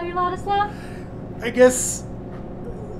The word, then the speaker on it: Ladislav: in, they do take the time and they pronounce it properly, it's interesting. When they say Ladislav, like, even for me it's hard to say it. Really? Yeah. Do you like when people call you Ladislav?